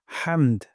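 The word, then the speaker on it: حمد: পড়ে ফেলবো রব্বানা ওয়ালাকাল হামদ এখানে হামদু আছে এখানে আমরা ওয়াকফ করব অথবা হামদু পড়তে পারি তবে ওয়াকফ করলে সুন্দর হয় হামদ গলার মাঝখান থেকে হা উচ্চারণ করব রব্বানা ওয়ালাকাল হামদ আর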